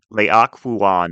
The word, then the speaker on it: Laocoön: The actual text is making a perfect leak a fuan of himself which is a Greek character that is spelled l ao c o n but there